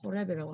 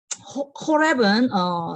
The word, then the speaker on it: 호렙: 그래서 하르 게브누님 이렇게 하고 그 다음에 하르 호렙 여기 지금 스펠링을 호렙이라고 하면 안 되고 호렙 하르 호렙이에요. 그래서 호렙은 이제 칼이에요.